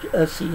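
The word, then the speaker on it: Jussi: It's at the Alphabet House by Jesse, I think they pronounce Jesse Adlerosen or Jesse, it looks like here, but with the J, a lot of the European countries it's pronounced more like a Y.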